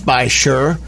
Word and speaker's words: Beishir: correctly because it is it sounds by sure but it's actually spelled B e I SH IR and so a lot